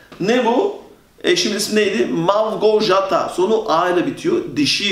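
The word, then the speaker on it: Małgorzata: Bu onun okunuşu V. V. Malgorzata. R ve Z, J oluyordu. Malgorzata. Bunun okunuşu arkadaşlar Malgorzata. Türkiye'de eşimin ismi bu şekilde biz düz okuduğumuz için ne olarak okuyorlar? Malgorzata.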